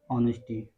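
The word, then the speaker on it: honesty: The angel, जो देवी थी, was impressed, प्रभावित प्रभावित हुई, विद द वुडकटर ऑनेस्टी, ये साइलेंट है, लकड़हारे की ईमानदारी को देखकर बहुत प्रभावित हुई।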